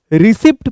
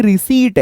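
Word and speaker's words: receipt: ये देखो, रिसिप्ट पढ़ते हैं बहुत सारे लोग, बट एक्चुअल में ये रिसीट है।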